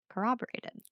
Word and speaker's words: corroborated: And I said, that's how my friend says it with the W. It's hard. It's really hard. It's really hard. And then it made me think, am I saying it wrong? Corroborated. Cooperated. But there's no W. Cooperated. We'll look it up after this episode. There's definitely no W. There's not. It's just R's.